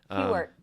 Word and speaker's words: Hughart: Hewart. Yeah. Although it's spelled Hughart.